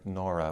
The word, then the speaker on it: Nora: the uh French intellectual Pierre Norah or nor to give it its French pronunciation called uh the Le